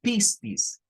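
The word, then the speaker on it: πίστις: Aquí está, miren, la misma escritura en griego que estaba arriba, que en griego esto se pronunciaría como pistis.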